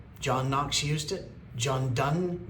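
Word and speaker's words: Donne: used used it John Knox used it John Dunn d o n NE e pronounced Dunn poet and writer used it um it was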